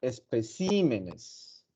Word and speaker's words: especímenes: Especímenes. ¿Ok? En este caso, bueno, y en el anterior también, es curioso porque si ustedes se fijan, es como la palabra incrementa de sílabas, pero sigue siendo esdrújula.